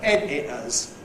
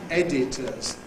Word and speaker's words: head hitters: Because they're both editors. Editors. Editors. Head hitters. They both hit you on the head. Editor. That depends upon H dropping going to work.